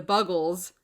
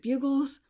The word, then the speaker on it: Buggles: And I checked, it is Buggles, because I was like, is it Bugles? Is it Buggles? Because if you look, you're like, how do you say that? I checked on the internet, it's Buggles.